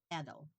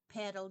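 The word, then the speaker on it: padel: year when it became a place to play paddle.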